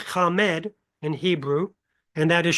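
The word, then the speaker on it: חָמַד: The word is pronounced kamemed in Hebrew and that is strong number H2530.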